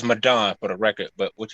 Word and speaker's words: Madon: a lot of people uh don't know how to pronounce it but it's arabic it's madonna go ahead right so